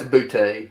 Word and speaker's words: Boutte: Is that how you pronounce his name? Yeah, it's Butte.